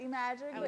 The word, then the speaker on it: iMagic: touch but iMagic touch iMagic everybody pronounces the I so I'm okay with that so I magic IM Magic Touch um the way I